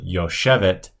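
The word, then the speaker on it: יוֹשֶׁבֶת: The accent is actually on the second syllable for this word, yoshevet.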